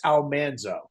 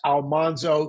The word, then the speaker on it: Almanzo: So, we've been saying for years, Almanzo. She said, "Almanso." I I'd been told by in letters for years that we'd been saying it wrong, but there was nothing I could do about that. But I'm converted to Almanso now. Now he's Almanso.